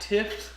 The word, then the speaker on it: Tifft: His name is Matt Tifft.